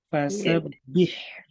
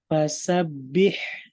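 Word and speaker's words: فَسَبِّحْ: Yang kedua fasabbih. Nah, tadi Ibu bacanya masih kurang tipis. Masih terdengar tebal. Jadi dibacanya dia harus tipis sekali. Ibu Bapak semua diperhatikan kayak fasabbih, bukan fasabbih.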